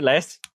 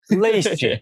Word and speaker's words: Leist: Less. Na verdade, essa pronúncia do seu sobrenome, a gente ficou sabendo que tem umas 3 diferentes aí, porque tem uma origem alemã.